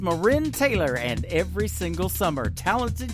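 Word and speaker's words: MaRynn Taylor: summertime song for you her name is marin taylor m a capital r y n n it is pronounced marin taylor and every single summer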